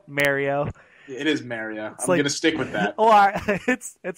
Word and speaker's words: Mario: It's got Mario out. It is actually really appealing over there. Oh, your northeastern pronunciation of Mario. No, that's the Italian. It's not northeastern.